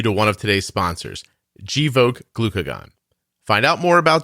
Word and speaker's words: Gvoke: huge thank you to one of today's sponsors joke glucagon find out more about joke hypopen at jok glucagon docomo you spell that g v o k e g l